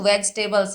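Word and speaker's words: vegetables: सारे लोग हैं वेज यह जो वेजिटेबल्स है इसको वेजिटेबल्स प्रोनाउंस करते हैं। वेजिटेबल जबकि वेजिटेबल नहीं होता तो जस्ट हम इसको प्रोनाउंस करेंगे वेज and then टेबल्स। वेजिटेबल्स वेजिटेबल्स। तो ई का प्रोनाउंसिएशन वहां पे एक तरीके से खत्म हो जाता है। कुछ प्रोनाउंस नहीं होता।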